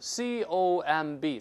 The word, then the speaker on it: comb: 梳子 comb，咱们都是 comb，不能读 comb，那个 b 不发音。